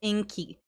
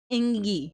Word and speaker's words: Ingi: streets of Iceland and why is his name pronounced Inky his name is iny there is no K in it there is no q in it grammatically it does not